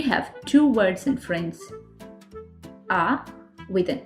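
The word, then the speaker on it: à: ah without an accent is the third person singular for have both of them are pronounced the same ah.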